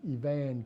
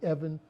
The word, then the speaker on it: Evan: I'm Kelvin Evan Capers. Or some would look at it and say Evan, but my aunt and mom, they pronounced it Evan, E-V-A-N.